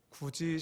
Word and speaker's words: 굳이: 저는 개인적으로 신앙의 모습을 굳이 신앙이라고 생각합니다. 발음을 세게 하시면 안 됩니다.